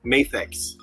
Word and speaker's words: Mafex: Acceptable ways to pronounce that are Mafex or Mafex. That's it. According to the distributor who had a conference call with the Mafex company, he said it's Mafex.